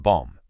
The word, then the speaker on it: bom: Let's take the word bom. It ends with an M, but remember, no closed lips. It actually sounds like bong, kind of echoing in your nasal cavity.